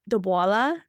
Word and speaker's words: dabbawala: In one of them, you look at Mumbai's the Dabbawala. Am I pronouncing that correctly?